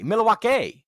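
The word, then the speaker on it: Milwaukee: no introduction he's in milwa milwa actually that's how it's pronounced which of course is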